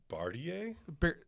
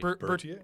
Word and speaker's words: Bertier: Jerry Bartier? No, Bertier.